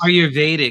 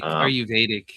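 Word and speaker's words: Ayurvedic: Um, there's a bunch from ancient India and I can't pronounce the word correctly. Aetic, aardic medicines, aruvedic, aruvedic. Yeah, aruvedic medicine.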